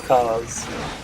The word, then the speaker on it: Ka: owned two of those cars i don't know i think it's supposed to be pronounced car it's like pronounced it's like you know it's like a spelt car but it's like car ka i used to call